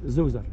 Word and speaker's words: Zoser: How do you say Zoser? Zoser.